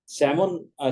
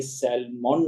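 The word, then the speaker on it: salmon: जाएगा L silent है और आखिर में सेमन सेमिन पढ़ा जाएगा बल्कि सेलमन नहीं पढ़ जाए इसी तरह चौथी जो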